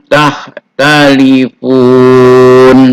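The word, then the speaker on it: تختلفون: Bacaannya tahtalifun. Tulisannya tahtalifuna. Bacanya tahtalifun.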